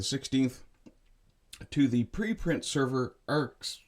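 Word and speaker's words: arXiv: Uh, the paper was published on the 16th to the preprint server arcs. I I guess that's meant to be pronounced archive southwest news service reported uh,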